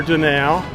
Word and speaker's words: Donau: I think I got the pronunciation right, or close. River Donau.